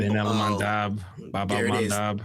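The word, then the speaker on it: Bab-el-Mandeb: They can close the uh what is it the um uh I I can never pronounce it, but the the Ansar Allah um the Bab Bab el-Mandeb.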